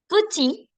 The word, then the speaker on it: petit: So when your D, P, T, S, and even X are at the end of the word, don't pronounce it. It's silent. So grand, chaud, fro, petit, frais.